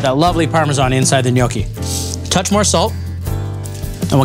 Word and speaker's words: gnocchi: again yeah look at that little Italian dumplings pronounced gnocchi if you're ever in the restaurant ordering them